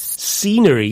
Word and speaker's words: scenery: scenery accommodation and restaurants scenery starts with a s sound but it's spelled s c it's quite easy to forget the C because you don't hear it the words science and